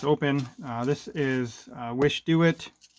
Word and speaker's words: Wishdoit: uh this is uh wish do it this is how you pronounce it and communicating with these